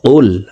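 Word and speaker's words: قُلْ: প্রিয় দর্শক আমি বানান করে বলে দিচ্ছি। দেখুন কফলাম পেশ কুল। আমরা অনেকেই কুল পড়ে থাকি।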